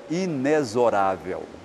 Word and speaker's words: inexorável: Nascentes a palavra inexorável tem a pronúncia esse x pronúncia de Z então o correto para essa ala de estudiosos é inexorável nem é inex quer